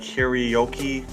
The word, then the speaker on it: Hiroyuki: A lot of people call him Henry, but it's like Hiroyuki.